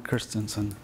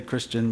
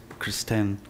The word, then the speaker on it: Christensen: It's Christensen. It is Christensen. It's Danish. Welcome. People say Christian, but it's Kristen.